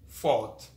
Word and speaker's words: thought: signature move to gh gh is silent when it comes after a vowel example thought who data way it